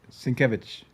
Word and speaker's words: Sienkiewicz: You pronounce it, Dan. Sienkiewicz.